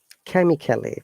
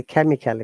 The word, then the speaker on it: chemically: form different compounds now chemically people say chemically but no it is not chemical it is chemically again the pronunciation technique